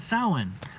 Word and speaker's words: Samhain: a party Eleanor says happy sad soin I almost said it the way it's spelled because I'm reading it been raining a lot